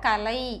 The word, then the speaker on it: கலை: கலை, இதை சொல்லும்போது நம்ம நுனி நாக்கால கலை அப்படி சொல்லணும், இதை கலை அழுத்தி சொல்லணும்.